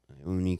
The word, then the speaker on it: Ione: You know how it's spelled? Ione. Ione, California.